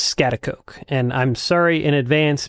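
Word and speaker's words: Schaghticoke: Well, I'm up on Scatakuk Mountain. I believe that's how it's pronounced, not 100% sure. Scatteratak. Scatakook. The correct pronunciation is scatakoke.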